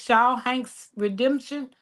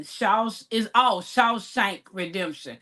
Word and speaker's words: Shawshank Redemption: It says Shaw Hanks Redemption. I'm probably butchering it, Nikki. So mine is House Party 3. Yeah. Now, I've watched all of them except for Kingdom Come and Shawshank Redemption.